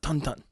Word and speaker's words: Tintin: name is 101 uh French okay technically it is pronounced tonon oh well it doesn't